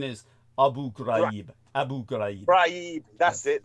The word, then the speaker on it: Abu Ghraib: Hey, by the way, the pronunciation is Abu Ghraib.